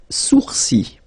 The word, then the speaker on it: sourcils: Les sourcils, les sourcils. Okay, so it's quite strange because you get this LS at the end, but then, well, you don't pronounce them.